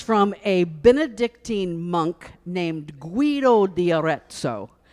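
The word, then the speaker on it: Guido d'Arezzo: a Benedictine monk named Guido de orezo and I had to say it like an Italian my best my best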